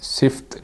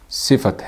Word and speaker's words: صفت: اسم استفہام، اسم صفت۔ یہاں یہ یاد رکھیں کہ یہ لفظ صفت ہے، صفت نہیں ہے، یعنی اس کا تلفظ صفت ہے۔ تو اسم صفت، اسم